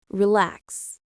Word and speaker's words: relax: Relax. Stress on the second syllable.